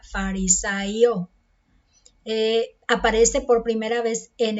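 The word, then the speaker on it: Φαρισαῖος: Dice que los fariseos, el nombre es un nombre griego que se pronuncia o sería farisaio.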